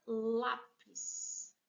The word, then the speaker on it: lápis: A próxima palavra é a palavra lápis. Lápis já veio acentuada, não é a última, é a penúltima. E se é a penúltima, ela também é paroxítona.